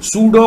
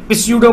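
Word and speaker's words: pseudo: जैसा दिखने वाला code, सूडो code, where spelling में पी साइलेंट है।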